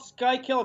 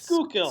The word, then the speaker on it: Schuylkill: It's not called Skykill, it's Schuylkill. Schuylkill.